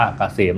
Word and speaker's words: เกษม: Sign นำ หน้า นะ K SCM อ่าน ว่า เกษม นะ ครับ สำหรับ ท่าน ที่